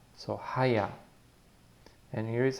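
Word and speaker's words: היה: So with a ha, ya, and the he at the end is silent. So when you see the he at the end, you don't have to force it. You don't have to try to pronounce it.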